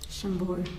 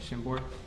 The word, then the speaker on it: Chambord: Chambord. Chambord.